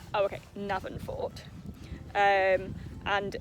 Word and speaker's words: Navan Fort: Navan Fort.